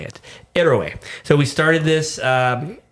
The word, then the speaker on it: Héroe: Erway. Erway. So the H is silent. That's how you say it. Errorway.